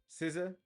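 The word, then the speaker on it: SZA: Awards here so uh best R&B from uh siza is that am I saying it right sciss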